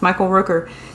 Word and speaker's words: Michael Rooker: Oh, his name is Michael Rooker. Am I pronouncing that right? Yeah. It's Michael Rooker.